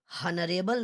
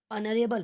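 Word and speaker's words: honourable: इसका प्रोनाउंसिएशन देखिएगा, इसको हनरेबल नहीं पढ़ते हैं, ऑनरेबल पढ़ते हैं। तो ऑनरेबल भी किससे स्टार्ट होता है? अ से, और अ क्या है?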